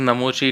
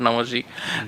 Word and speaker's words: नमोशी: इट इज़ नमोशी, नॉट नमोशी।